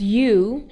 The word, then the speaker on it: ewe: The EWE, which is pronounced as U, is the adult female.